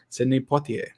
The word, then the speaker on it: Sidney Poitier: Sidney Poitier. It's the only name I can pronounce correctly because I heard it when I was young and it stuck.